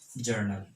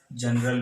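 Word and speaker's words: journal: Transactions के basis पे बनाया जाता है जर्नल बुक, इसका प्रोनाउंसिएशन होता है जर्नल। कई लोग इसे जनरल भी कहते हैं, जो कि गलत है, और इसे हिंदी में कहा जाता है रोजनामचा।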